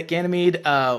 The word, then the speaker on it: Ganymede: I pronounce that right, or how would you pronounce Ganymede, yeah, that's it? it. Yeah, Ganymede, we currently have 20.